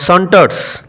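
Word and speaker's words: saunter: সন্টারস উচ্চারণ লক্ষ্য করো। এস ইউ এনটি আর সন্টার অলসভাবে সন্তর্পণে প্রবেশ করা।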